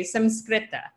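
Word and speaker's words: संस्कृत: So if you really want to say it correctly, you say samskrita.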